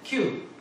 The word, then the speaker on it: KIU: 그래서 홍규에 규를 살려보자 하셔서 규를 그냥 이러면 심심하니까 쓸 때는 KIU 키우고 발음할 때는 Q 그래서 큐가 됐습니다.